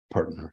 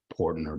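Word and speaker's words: Poertner: And it used to be P-O only with the umlaut above it. And then they changed it to P-O-E, but it's pronounced Pertner. So and some of my family members, the black sheep of the family, have sort of given up and they just go ahead and say Portner, but it's Pertner.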